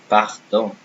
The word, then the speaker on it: pardon: Again, if I take this word, pardon, see, pardon. I didn't say pardon. I didn't say pardon. I said pardon, pardon. We will need to practice how to say the R correctly.